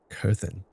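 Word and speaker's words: Coerthan: Kurthen.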